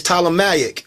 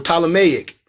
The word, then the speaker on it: Ptolemaic: they be said plutonomy no the P is silent is Ptolemaic or Ptolemaic the king of Upper